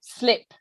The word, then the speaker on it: slip: man okay slip okay so this one is shorter slip uh whereas sleep is a bit longer has the the vowel sound longer sleep okay um and